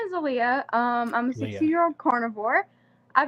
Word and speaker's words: Aaliyah: Aaliyah, we're going to say it correctly now. Aaliyah, not Alia.